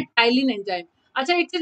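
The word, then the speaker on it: ptyalin: तो बच्चा P silent होता है, इसको टाइलिन एंजाइम के नाम से बोलते हैं।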